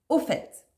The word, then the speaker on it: au fait: à la 8e expression au fait oui on prononce bien le T à la fin au fait est souvent